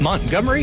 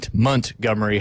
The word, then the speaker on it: Montgomery: In Dothan off Montgomery Highway, not Montgomery Highway. I learned how to pronounce that correctly as I became a Southerner in the Florida Panhandle. Oh, yeah. I used to say Montgomery, and Beth would be like, that is completely wrong.